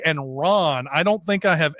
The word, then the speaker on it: Ran: But I think Ran? No, it's Ron. It's Akira Kurosawa's Ron. I see. Got it. Sorry. Yeah. It's pronounced. Yeah. Got it. Yeah, it is spelled Ran, but I believe it's pronounced Ron.